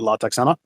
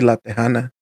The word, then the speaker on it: La Tejana: If the band name is not La Texana, what is it? Well, it should be La Tejana.